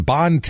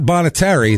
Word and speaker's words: Bonne Terre: word t e r r e that's not bonit ter that's not Bonet ter that is Bon originally it was bonit ter